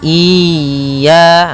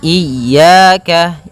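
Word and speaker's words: إِيَّاكَ: Iyyaka pada lafal ya, ini hati-hati dalam pelafalannya, ada 2 kesalahan yang sering terjadi. Yang pertama yaitu dia memanjangkan iya. Nah, seperti itu. Harusnya dia ditekan dan dilembutkan, iyyaka, iyyaka. Nah, kemudian jangan sampai dibaca panjang, jangan iyyaka, tidak ada tasydidnya.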